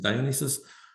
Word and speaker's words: Dionysus: That's how you pronounce it, Dionysus, broken into pieces.